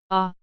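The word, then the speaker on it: 아: characters under pure vowels first is aw the romanization for this character is letter A ah sounds like the letter A on the word camp next is oh the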